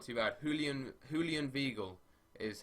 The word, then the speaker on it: Julian Weigl: Julian Weigl is how it's pronounced.